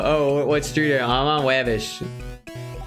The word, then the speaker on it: Wabash: I'm on Wabbish. Like what? Wabbish. Like wobbash, but Wabbish. Oh, you mean Wabash.